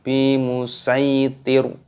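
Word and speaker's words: بمصيطر: dalam Alquran bis jadi di sini dibaca huruf sin bukan huruf shodnya di sini karena tanda waqof maka berhenti di sini dimatikan Bi musaitir bukan seperti itu kita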